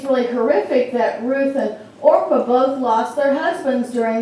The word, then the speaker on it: Orpah: and her daughter-in-laws ruthyn Orpah and everybody was going to say Oprah but that's how I forgot her name somebody's pronounced it wrong and it focused on